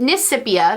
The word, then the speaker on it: Nisipia: Nisa said, Nisipia, that's how you pronounce her channel name. Don't let her tell you different. It's Nisipia.